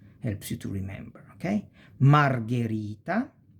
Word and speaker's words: Margherita: So since there is the H, the G goes G, not J, G, because we have the H. So ge, gi, because of the H.